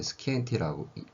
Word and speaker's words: scientia: 이 science라는 말의 용어는 라틴어인 scientia, 읽을 때 스키엔티아라고 읽는다고 하더라고요.